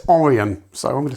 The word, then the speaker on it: Orion: Don't know why they did that with Orion, because apparently, I've always called it Orion, because that's how it's spelled, but actually it's Orion.